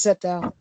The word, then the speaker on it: Sceptile: It is Sceptile.